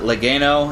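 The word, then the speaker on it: Legeno: But Dave, I think his name, you pronounce it Legano.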